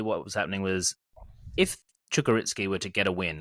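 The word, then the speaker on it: Čukarički: I've learned how to say it since last week's episode. Not Kukariki, surprisingly. Chukaritski.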